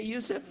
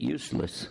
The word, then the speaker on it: Yusuf: My name's Yusuf. Can you say Yusuf? You got it right on the first time. All these years, my wife still pronounces it useless.